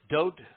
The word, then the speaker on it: Dowd: um we find that doad and dode is the correct pronunciation of the name that is known by most people as David and it is towed